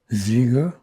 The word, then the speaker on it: Zeiger: Can you say your name and spell it, please? My name is Michael Zeger.